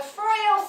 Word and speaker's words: Froio: We wrote a piece about the senior center, the Froio Senior Center.